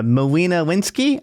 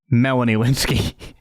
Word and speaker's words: Melanie Lynskey: yeah no uh bud you said her name wrong completely it's Melanie winsky Melanie lynskey not whatever you said how did you get